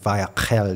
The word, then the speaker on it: 바야크헬: 근데 바야크헬 이렇게 하는데 뭐 유대인들이 이제 크를 이렇게 크 앞에서 안 하고 가래뱉듯이 이렇게 하잖아요. 그래서 바야크헬 이렇게 하면 되는데 아무튼 이번 주가 바야크헬입니다.